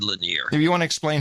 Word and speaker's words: Lanier: Lanier? Is that how you say it? Yeah, Jared Lanier.